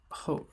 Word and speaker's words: 后: Actually, it also it should add ho right after.